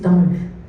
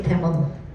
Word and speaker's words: Tamil: So my pronunciation is Tamil. I will never say Tamil.